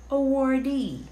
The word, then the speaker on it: awardee: It's, oh, how do you pronounce this word? It's awardee.